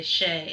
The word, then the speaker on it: chez: Messer so that's important you wouldn't say at someone's house would say Shay and then how do